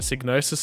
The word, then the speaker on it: Psygnosis: Signosis on it, the owl.